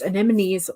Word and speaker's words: anemones: anemones in the title of four books it's anemones or at what I don't think I've ever